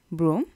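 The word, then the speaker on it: bras: next கை arm actually அது PRAN தான் சொல்ல அந்த எஸ்ஸை நீங்கள் ப்ரொனவுன்ஸ் பண்ணுறதில்ல ப்ரா அண்ட் த லாஸ்ட் வேர்ட்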